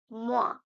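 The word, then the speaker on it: moins: sign or the symbol so minus we say mo mo okay so 5 - 3 equals 2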